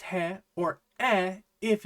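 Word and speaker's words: ヘ: So in that very specific case, you could write katakana he and have it be pronounced e, but they look identical anyway, so it hardly matters.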